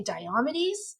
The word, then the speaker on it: Diomedes: There's two different ways of pronouncing it, but I say Diomedes.